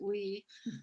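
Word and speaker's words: WEI: we girls in fact wia they pronounce it we uh and part of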